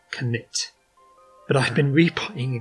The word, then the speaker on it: Knytt: a swedish word today which is apparently supposed to be pronounced knit but i've been repotting